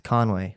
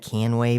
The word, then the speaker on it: Conway: You're taking a to-go order, like it's Conway. Oh, how do you spell it? It's Conway. But they never say it sometimes wrong. no, right? they don't say it wrong. But I've had Canway before.